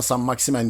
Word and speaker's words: Saint-Maximin: daha detaylı bir şekilde saman maximen saman maximin ya da saman maximan Fransızca olduğundan saman maximen diye okunuyor olması lazım Sen maksimel Diye okunuyor